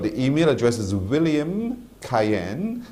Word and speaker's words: Cayenne: pronounce sometimes so it's c a y e n n e cayen like in cayenne pepper I I got you so